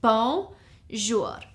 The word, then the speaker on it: bonjour: It's 2 syllables, bonjour.